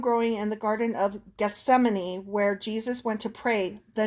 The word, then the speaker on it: Gethsemane: in the Garden of Gethsemane. Yeah, pronunciation. Gethsemane. Gethsemane. No, I've heard this one before, and I think it's beautiful the way like the letters twist around. It's just hard to say.